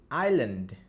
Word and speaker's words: island: Let's say, travel to the island. You see? "island." We don’t say the "s" in island.